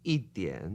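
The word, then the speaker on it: 一点: But I think I usually hear people say "i dian". Ah, you have a good ear. Exactly.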